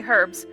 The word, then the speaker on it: herbes: what is it herbs she pronounces the H ok herbes what kind of herbs